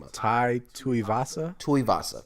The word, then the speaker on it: Tuivasa: Tuivasa, correct. Thank you. Tuivasa is.